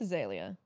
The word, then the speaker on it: Azalea: a liab i think azalea is what we went with because she was spelling it like phonetically not how it's actually spelled so we're going with azalea okay okay azalea i